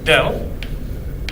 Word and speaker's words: del: the del operator acting on t where it's pronounced del del by definition is equal to correct so